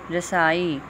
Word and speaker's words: رسائی: کر رہا ہے، شعور۔ رسائی، را پہ زبر، سین پہ زبر، سین زبر الف سا، حمزہ کے نیچے زیر اور چھوٹی یہ پہ جزم، رسائی۔ معدنیات، میم پہ زبر،